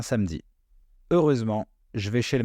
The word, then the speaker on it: samedi: Samedi, samedi.